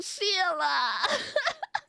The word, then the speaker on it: Shayla: I know it's like Shayla is the way you spell it, but he says it like Sheila.